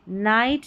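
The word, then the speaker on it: night: Number 10 पर देखिए जी H silent है। यानी कि यह बोला ही नहीं जाता। यहां पर देखिए जी एच है। अब इसका उच्चारण ही नहीं है। यहां पर आपको फ नहीं पढ़ देना है कि फ पढ़ दिया। नहीं नाइट लाइट हाई राइट। अब देखा यहां पर फ का उच्चारण हुआ। जी एच का उच्चारण नहीं। जी एच यहां पर साइलेंट है।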